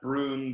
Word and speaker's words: Bruun: It's basically, exactly how it's spelled. Exactly. I'd like to add to it. Yeah, it's like it's almost like two O's even. It's like prune, broom. You know, like one of those ooh sounds.